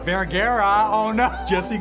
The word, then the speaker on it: Vergara: Sofia Vergara. Vergara? Oh no. Jesse called her Sofia Vergara. He said my name wrong.